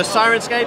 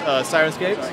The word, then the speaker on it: Syrinscape: how to spell it, it's spelled S-Y-R-I-N-scape. It's in the singing sirens, singing the sailors onto the shore with their beautiful songs.